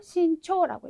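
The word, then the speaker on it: 慎重: 그래서 지금처럼 귀중인 경우에는 키초라고 읽어주셔야 되고 또 예를 들어서 신중이라던가 이런 단어들도 신초라고 이제 읽어주셔야 되는데요.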